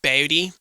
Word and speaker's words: Bodie: Is it Bodie? They want you to say it like that. Bodie.